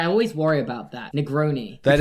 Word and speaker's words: Negroni: Negroni. That is Pronounce that correct. one right, yeah. Yeah. Oh, okay. You could say That's it. Negroni.